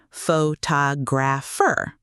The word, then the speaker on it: photographer: The word photograph, Photograph, but photographer, photographer, and photographic, photographic. Same root word, completely different stress patterns.